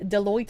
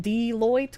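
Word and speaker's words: Deloitte: Foxu lady deote is pronounced deoit.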